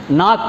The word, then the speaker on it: knock: இப்போ ஒன்றில் பார்த்தீங்கன்னா நாக்குன்னு ஒரு வார்த்தைன்னு வச்சுங்க, KNOCK, நாக் அப்படின்னு ஒரு வார்த்தை. இதில் கே என்ற எழுத்தே உச்சரிப்பில் வராது, NOCK தான் வரும். அதில் கூட NOK தான் வரும். நாக் சியும் உச்சரிப்பில் வராது, கேவும் உச்சரிப்பில் வராது.